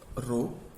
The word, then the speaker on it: rho: This is mathematical definition of resistance where this symbol is pronounced as रो, RHO।